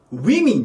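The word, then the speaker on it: women: なんですけどこの発音がねすごく大事でこれマンがメインなんですよた宮まんだから甘えになりそうなんですけどこれウィミンといい摩擦音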